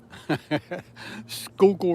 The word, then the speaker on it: Schuylkill: It's like school kill, but it's not spelled that way.